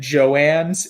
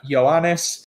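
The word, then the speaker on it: joannes: for the mispronunciation uh we said Joann it's uh yanis uh so apologies for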